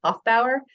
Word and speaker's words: Hoefbauer: as somebody with a weird last name myself Hof Bower no one says my name right until I